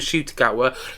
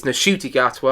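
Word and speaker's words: Ncuti Gatwa: It's not Ncutti Gatwa, it's Ncutti Gatwa. I saw him say that on an Instagram post a couple of weeks back, when we were introduced to Ncutti Gatwa's 15th Doctor in the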